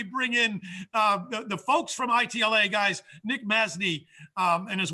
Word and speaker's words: ITLA: Do you like ITLA, or do you like when people say, spell it out? We like ITLA.